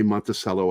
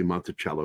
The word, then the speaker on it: Monticello: Also, I don't say Monticello. I say Monticello because that's how it's said. Yeah.